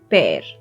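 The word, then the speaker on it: पैर: Pair. Like the English word pair, pair. That's the same pronunciation. So we have haath and pair.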